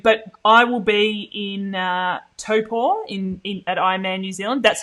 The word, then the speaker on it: Taupo: But I will be in Taupo at Ironman New Zealand. That's how you pronounce it, by the way.